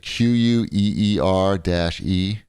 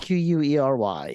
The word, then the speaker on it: Query: Is it QUEER-E? No, it's spelled QUERY. Oh, Query.